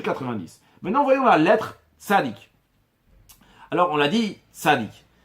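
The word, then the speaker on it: צדיק: Certains prononcent ça tzadé. Sans écrire le kouf à la fin.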